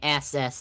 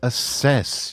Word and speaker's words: assess: Yeah, I can't assess this properly. How am I supposed to keep abreast of the situation as Perv is making things up? It's assess. You put the wrong emphasis on the wrong syllable.